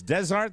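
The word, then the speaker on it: des Arts: it's desart oh it's desart they pronounce the S because it's a plural and the the S goes over to the a the pesart bridge to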